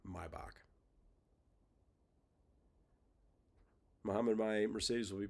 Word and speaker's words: Maybach: Carl, it is pronounced Maybach. It's not Maybach or Maybach. It's my right. So it you have to remove the A from the word to get the the German pronunciation Maybach.